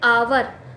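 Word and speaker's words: hour: तो and orange and आवर अभी हा वर्तनी पड़ते हैं एच साइलेंट होता है इसमें धमकियां पड़ते हैं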